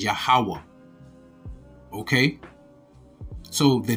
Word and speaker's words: YAHAWAH: Like I said, the tetragrammaton, the YHWH, the vowels are YAH, the letters are YAH, HA, WAH, HA, but the I at the end is silent. So it's YAHAWAH.